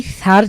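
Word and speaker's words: ف: এই ফার যে মাখরাজ রয়েছে আমাদেরকে সেটা কিন্তু অবশ্যই পূর্ণাঙ্গভাবে আদায় করতে হবে। ফা আমাদের জীব হালকায় বের হয়ে সামনের দাঁত লাগিয়ে পাতলা করে বাতাস বের করে উচ্চারণ করতে হবে।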